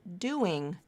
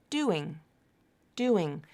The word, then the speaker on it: doing: You're using linking to connect those 2 syllables. Do-ing, doing. It sounds like one word, right? 2 syllables, but one word. It's not pronounced like do-ing, do-ing. There's no stop between the words. They're connected. They're linked.